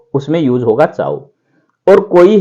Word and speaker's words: ciao: तो इसको इस तरीके से लिखते हैं, चाओ को CIAO, पढ़ेंगे चाओ, चाओ।